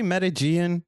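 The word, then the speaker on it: Medellín: I guess do you say Medellin? Can we straighten that up? I think they said Medellin is how they pronounce it.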